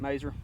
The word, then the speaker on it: Mauser: I had a teacher named Mauser, or Maser, when I was in elementary school, even though he spelled it Mauser. He pronounced it Maser, so maybe the family here pronounces it Maser.